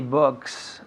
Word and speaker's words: books: Books, un poco más largo. Books. Are there any books? Books. Books. Yeah, books. Okay. Are there any books on the table? Good. Are there any books? La B. Los labios juntos, ¿no?